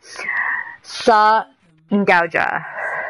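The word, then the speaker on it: Sahr Ngaujah: Anyway, it's pronounced Sa. Sa Ngauja. Sa Ngauja. Sa Ngauja. Yeah, Sa Ngauja.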